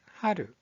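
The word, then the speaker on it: 春: 자, 봄이라는 뜻을 가지고 있는 이 한자의 발음은 하루, 하루.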